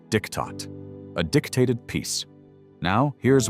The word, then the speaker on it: Diktat: From that moment forward, every German knew this treaty by one word: Diktat, pronounced Diktat, a dictated peace.